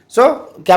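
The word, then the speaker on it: cinq: उसके बाद व सांक फाइव को सांक बोलते हैं सी आई एन क उच्चारण में और वे हो गया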